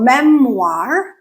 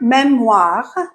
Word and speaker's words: memoir: And in French, O-I-R make the OR sound. Okay? So memoir, armoire, noir. Okay? OR. The word memoir in French means memory